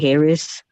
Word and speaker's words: heirs: Uh, what characteristics the heirs of God should display in every area of life? All right. So that word here is air. The H is silent. All right. So what two characteristics the heirs of God should display